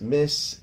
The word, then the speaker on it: Miss: This is Miss is pronounced just like what it looks like. You know, that's a regular word too, like something is missing. So it's pronounced the same way, Miss.